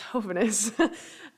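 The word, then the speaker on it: jóvenes: me were the Hoven the henus means young people in in Spanish spelled with a J but it's henus um and it was a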